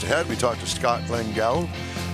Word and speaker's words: Lengal: did I pronounce it? You said Lengel, Scott Lengel.